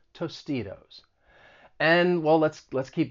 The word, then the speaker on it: Tostitos: on your fingers and then you hear the flap t in tostitos that second t i'm gonna use a flat t comes between two vowels tostitos and well let's let's